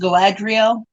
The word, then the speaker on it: Galadriel: it's it's in in the token world is pronounced Galadriel but we didn't know that when I was